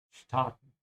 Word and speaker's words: starten: So notice how the words here are similar, the way they are written, but they're pronounced very differently. In English you say st, and in German you say st, starten.